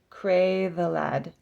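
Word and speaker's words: Creiddylad: Welsh words are difficult cray the lad is how you say that all right demonia possibly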